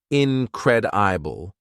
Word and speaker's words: incredible: In pronunciation, it has 4 syllables, incredible, and the second syllable is stressed.